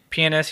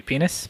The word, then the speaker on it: pianist: It's pronounced pianist. Oh, excuse me, penis? What? Yeah, pianist. Thank you. With a T? With a T at the end. Oh, thank you.